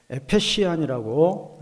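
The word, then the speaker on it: Ephesus: 에페시안이라고 영어로는 발음하죠. 우리는 이제 에베소라고 번역했어요.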